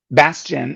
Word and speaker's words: Bastien: Bastien? Bastion.